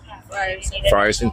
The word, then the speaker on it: Frierson: Frierson, thank you.